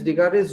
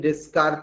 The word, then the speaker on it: Descartes: See, I am writing Descartes, S is silent actually.